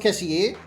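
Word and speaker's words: Kessié: I believe it's pronounced Kessie, but because of the accent on the E, but I like saying Kessie because it looks good.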